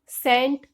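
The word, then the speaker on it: scent: एस के बाद सी साइलेंट रहता है, जैसे कि सीन, सेंट या फिर साइंस। इसमें भी एस के बाद सी आ रहा है तो इसमें हम सी को साइलेंट रखेंगे, सी इसमें हम नहीं बोलेंगे।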